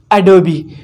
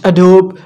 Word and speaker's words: Adobe: premium pro but you don't know the right pronunciation of this company the right word is adobe we may call it adobe but this is wrong the right word is